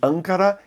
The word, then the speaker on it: Ancara: me corrigiu dizendo que na língua portuguesa a pronúncia correta arrancar a então ancara e nem línguas pancada em português obrigado jaqueline